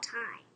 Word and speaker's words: time: But I know something about time. Yeah? It has a silent E at the end.